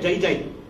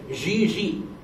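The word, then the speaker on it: Gigi: Some people said, jai jai, gai gai, gai jai, gai jai, ji ji. That's the pronunciation in French.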